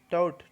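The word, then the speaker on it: taut: एस्ट्यूट, एस्ट्यूट, टॉट, टॉट पढ़ सकते हैं, ए से यहाँ साइलेंट आ जाएगा, टॉट होगा तगड़ा, ठीक है, क्या, तगड़ा।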